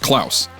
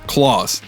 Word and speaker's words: Klaus: And his name is not pronounced Klaus, it's pronounced Claus, as in Santa Claus.